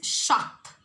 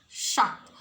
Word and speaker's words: Schacht: It is Schacht. Hjalmar Schacht. So, Hitler was advised on economic growth by Germany's Minister of Economics, Hjalmar Schacht.